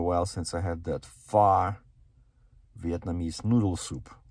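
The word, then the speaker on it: pho: that's spicy far soup that's how it's pronounced p h o far so spicy noodle soup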